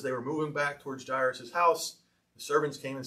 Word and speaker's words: Jairus: Jairus, yes, or Jairus, how some people pronounce it. I would say Jairus.